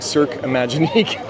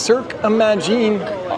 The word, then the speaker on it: Cirque Imagine: I think I was saying Cirque Imaginique, but it's pronounced Cirque Imagine.